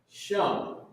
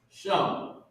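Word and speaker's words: שם: Hallowed be Shum. Shum. Oh, so like I put Ma up there. Shum. Shah and Ma connected. So Shah, Ma connected. Shum.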